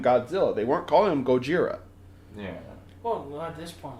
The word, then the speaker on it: Gojira: that name cuz they originally the character was called Gojira our dumb asses mispronounced it and thought do that's a